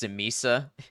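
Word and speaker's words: Tzimisce: It's actually pronounced Simisa.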